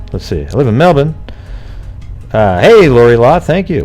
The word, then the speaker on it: Melbourne: you thank you living in Obon as they pronounce it Mebane Mebane her let's see I live in Melbourne hey Laurie lot thank you Wow when I